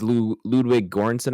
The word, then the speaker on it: Ludwig Göransson: But like, so coming in, this is Ludwig Göransson, I think is how you pronounce it.